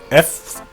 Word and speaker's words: Fuhr: Fuhr. I didn't say Führer, okay, not like Nazis, I said Fuhr, if I even pronounced that correctly.